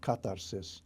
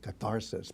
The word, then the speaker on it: catharsis: And it makes the purification, or katharsis-- or as we pronounce it in the English borrowing, catharsis-- possible.